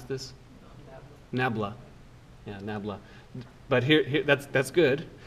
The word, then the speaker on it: nabla: are math majors does anyone know how to pronounce this nabla yeah nabla but here that's that's good but now let's